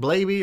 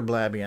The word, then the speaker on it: Blaby: Or is it Blaby or Blabby? I don't know. Blabby? We'll find out on the Dragon Special. Yeah, I think the Lava Lamp guy pronounces it Blaby.